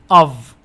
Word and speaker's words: of: تذكر هنا الإف تنطق V of.